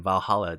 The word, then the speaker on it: VA-11 HALL-A: Again, Valhalla, this is spelled VA-11 HALL-A.